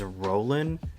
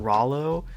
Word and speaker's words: Roland: I just now realized this character's name is Roland, not Rollo.